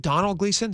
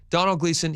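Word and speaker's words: Domhnall Gleeson: And uh is it Donald Gleason? Is that how you pronounce his name? Yeah. Donald Gleason.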